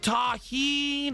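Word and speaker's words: tahini: It's pronounced taheen.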